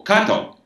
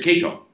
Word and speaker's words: Kato: business and I would introduce them to Mr k k a t o cut and he would say my name is a cut and they would say hello Mr Keo you know in other